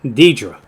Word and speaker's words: Deidre: let me know that Deidre didn't turn up Deidra okay that's her what's her name is Deidra that's how you pronounce her name so he's definitely yeah